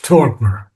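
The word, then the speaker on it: torpor: And then of course torper. Torper. So R you should not pronounce is in the last R. Torper.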